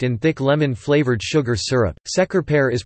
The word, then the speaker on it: Şekerpare: Mainly prepared by baking some soft balls of almond-based pastry dipped in thick lemon-flavored sugar syrup, şekerpare is pronounced şekerpare in Turkish.